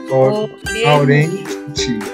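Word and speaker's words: 오렌지: Orenchi. Orenchi. Cuando la G está en medio, Orenchi. Orenchi. Es el conglish, literal, muy parecido en inglés.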